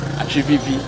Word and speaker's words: Atsupipi: Atsupipi. When you are pronouncing the word, as I said, your tongue and your teeth, there should be a combination of transfer of air.